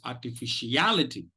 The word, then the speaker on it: artificiality: Okay, now listen to the pronunciation. It is artificiality.